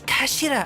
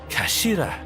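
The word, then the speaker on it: 頭: end of the hilt it's written as head in japanese but it's pronounced as kashira i believe kashira so mr rasoggy's words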